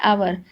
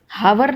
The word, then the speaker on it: hour: अब देखो ये है आवर, आवर लिखा है, HOUR लिखा है आवर, हावर नहीं है, यानी कि एच इसमें भी साइलेंट है।